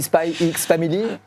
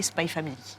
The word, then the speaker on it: Spy x Family: tel que ça doit être prononcé, c'est-à-dire sans le X. Donc j'essaye de me forcer à dire Hunter x Hunter et Spy Family.